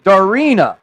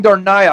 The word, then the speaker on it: Darina: make an apology too yesterday i mispronounced one of our u.s fighters yeah darina i was saying darnaya i'm sorry my my